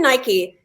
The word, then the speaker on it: Nike: way to pronounce it Nike does look like it would be pronounced Nike it rhymes with Mike and bike it's spelled the same way yeah um there is